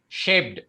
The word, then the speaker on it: shaped: of words influenced influenced shaped shaped shaped shaped yeah very good shape the d has to sound so i understand there